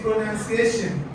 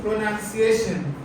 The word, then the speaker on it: pronunciation: When we get to this place, something has been written like a pronoun, but it's not a pronoun. It's pronunciation. All of you. Pronunciation. Pronunciation.